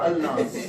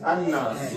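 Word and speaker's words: النَّاس: Using the image, so Nas, is it An-Nas or Al-Nas? It's An-Nas.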